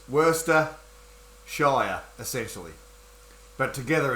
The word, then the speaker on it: Worcestershire: We pronounce it Worcestershire. We pronounce Shire as shear, like shearing a sheep.